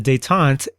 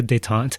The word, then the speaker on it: détente: And a dant pronounced in the really American accented English that I've got.